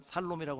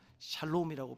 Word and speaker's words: 샬롬: 그렇지만 살롬이라고 하시면 안 돼요. 샬롬이라고 발음을 정하게 하셔야 됩니다.